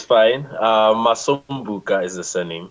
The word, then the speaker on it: Masombuka: you don't get to tell me how to pronounce it right just just call me it's fine muscle bucha is the surname Masson Buca you know yes like that it is something